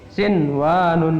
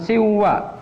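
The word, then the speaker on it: صنوان: Contohnya adalah sinwanun. Sinwanun, bukan siwa tapi sinwan.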